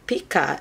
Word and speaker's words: picot: doble nudos y un picot, la "t" no se pronuncia solo la "pico" este pequeño lazo/circulo es